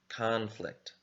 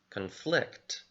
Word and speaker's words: conflict: verb or an adjective but notice the verb form and the adjective form changed the stress on the word so as a noun we have conflict as a verb we have conflict the stress changed notice this when you're